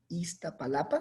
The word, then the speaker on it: Iztapalapa: de Sociología de la Universidad Autónoma Metropolitana de Iztapalapa. Iztapalapa, ¿sí lo pronuncié bien?